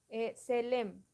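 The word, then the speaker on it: צלם: Esta es la escritura de cómo suena, no de cómo se escribe. Selem, T-S-E-L-E-M.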